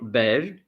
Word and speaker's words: beige: And here in French, you say beige, beige. You say really beige and not beige.